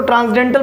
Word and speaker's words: transcendental: तो इस देखिए, इसको ट्रांसडेंटल पढ़ते हैं, यहाँ पर जो है कि ट्रांसकेंडल लिखा हुआ है लेकिन CEN साइलेंट रहता है।